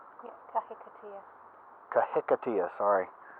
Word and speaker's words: kahikatea: These are more kahatias? Yeah, kahikatea. Kahikatea, sorry. Not the best pronouncer in all the world.